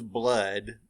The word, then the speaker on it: blood: And then the second witch says, "Cool it with a baboon's blood, then the charm is firm and good." I guess back in Shakespeare's day, blood rhymes with good.